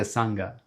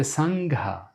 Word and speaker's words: Sangha: Not the Sangha, but the Sangha.